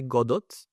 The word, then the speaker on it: Godot: you did some some some people say Godot but someone says godo so godo is the the real pronunciation we have a project